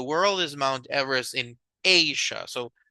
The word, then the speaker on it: Asia: The highest mountain in the world is Mount Everest in Asia. So how do we pronounce this continent? Is Asia. The long sound of the A, right? Asia, something like this. So it's a long sound.